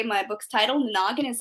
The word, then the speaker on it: NANAGIN: Is that how it's pronounced? NANAGIN? NANAGIN.